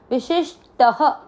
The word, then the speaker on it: विशिष्ट: विशिष, विशिष, और ट में अ मिक्स करना, विशिष्ट। ट में अ की मात्रा तो विसर्ग को पढ़ेंगे ह, विशिष्ट, शिष्ट, बिल्कुल विशिष्ट।